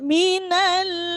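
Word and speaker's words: من: Innalladzina kafaru min ya, ini terkadang hak itu kurang tekanan jadinya seperti h. Min kalau kurang tekanan bunyinya nanti keluarnya h. Jadi harus banyak tekanan.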